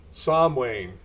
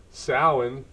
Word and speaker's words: Samhain: network and today I'm going to talk about s Wayne now my gelic pronunciation is horrible I've called it s way all my life but I've looked and researched and Modern Irish it's called sin and older Irish was sa so I've mispronounced